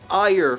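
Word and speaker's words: Aegir: How do you get ire from A-E-G-I-R?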